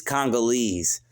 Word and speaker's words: Congolese: He can't even pronounce it. It's Congolese.